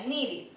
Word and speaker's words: needed: Wait sería waited y need sería needed. Cuando las palabras terminan en T o en D, la ed que se le agrega se pronuncia como id.